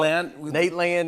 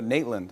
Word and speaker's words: Nateland: I said Nateland and you go Natland.